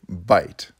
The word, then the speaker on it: byte: put them together that's called a byte it sounds like a mouthful of food but it's spelled with a y and it refers to